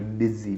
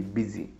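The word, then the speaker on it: busy: तो बिजी में आपको लग रहा है कि साउंड यू की आ रही है, पर नहीं, उसमें एक्चुअल में साउंड आई की आ रही है, बी आई, बिजी, बिजी, ठीक है।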